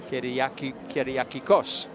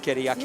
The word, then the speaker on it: Kyriakikos: You pronounce that one. Kyriakikos. I got it. Kyriakikos.